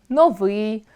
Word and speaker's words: новий: Опрацьовуючи цей ресурс, ми можемо зауважити, що, наприклад, акцентуаційною нормою є чорнОслив, новИй, фаховИй. Будь-яке інше наголошування буде порушенням (анормемою).